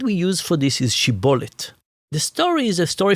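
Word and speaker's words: שיבולת: Because one tribe said it's shibolet and one tribe said sibolet. Uh-huh.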